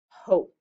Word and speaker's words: hope: say its name that the e is silent it jumps right over the consonant to give the o the long sound so it says o hope let's practice a little